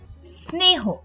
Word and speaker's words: স্নেহ: দন্ত স এর স্বাভাবিক উচ্চারণ ইংরেজি এস এর মতো, যেমন স্থান, স্নেহ, কিন্তু ক্ষেত্র বিশেষে সেটা তালব্য স বা স এই ধরনের উচ্চারিত হয়।